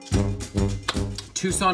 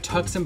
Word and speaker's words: Tucson: ellick louisville kentucky no tucson arizona it looks like tuxen but it's tucson and i know this